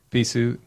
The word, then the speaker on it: Peaceoot: Peaceoot.